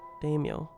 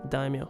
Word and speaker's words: daimyo: Daimyo. Okay. Not daimyo. Daimyo.